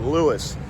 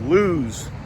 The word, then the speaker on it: Lewes: somebody's a local or not by how they pronounce it, because the people from not around here call it Lewis, but it's Lewes, Delaware.